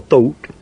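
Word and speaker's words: Thoth: the egyptian god taught t-h-o-t you'd pronounce thought or thought says to osiris another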